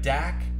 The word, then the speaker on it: Dak: of 15 deckle 10 Prescott that's how you pronounce his first name everything else is so it's like dak and then the deckle tin is all silent